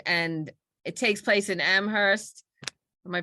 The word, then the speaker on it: Amherst: he just was like, it's Amherst. Stop calling it Amherst.